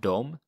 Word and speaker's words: de: tala and of course it's pronounced dom but it's spelt with d e so how would you